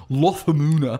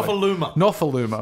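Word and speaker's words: Nofoaluma: the highest try scorers in David Lofamuna. Not even close. Will you say it correctly? Nofaluma.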